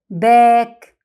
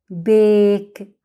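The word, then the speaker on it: bake: مش ما قلناش باك، لا، بيك. طب ده ليه؟ لان القاعدة بتقول ننطق باسم الحرف الاول مش بصوته، وبنلغي الحرف التاني، تبقى بيك يعني خبزة.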